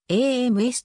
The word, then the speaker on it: Amherst: 街とは異なりこの街は h が目次になって ams とと発音され地元では住民